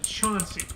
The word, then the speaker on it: Chauncey: near Athens called chaunting it's actually spelled Chansey c-h-a-n-c-e-y the locals pronounce it Chauncey because Ohio because Ohio